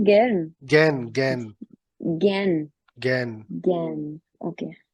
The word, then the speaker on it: gern: Please, किसी को break चाहिए या सर ये जो GERN था उसका क्या प्रोनाउंसिएशन है? गैर्न? Gain gain gain?